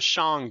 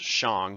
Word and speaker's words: Shang: Chinese history is the shang dynasty and the shan dynasty yes it's pronounced Xiang not Shang is they definitely exist